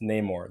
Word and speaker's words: Namor: i'm not a real marvel fan because i mispronounced namor they said because i pronounced it namor and